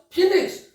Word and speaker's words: phoenix: How is it pronounced? Phoenix. But when someone will ask seeing the alphabet, someone may pronounce it as phonics, but it is actually phi, pho, then I, phi, then no, then this is another I, e, then ko, phoenix, then so, phoenix.